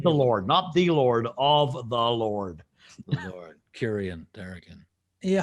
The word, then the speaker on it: Tharakan: Did I get it right? Almost. Tharakan. Tharakan. Yeah, there you go. The emphasis is on the first syllable.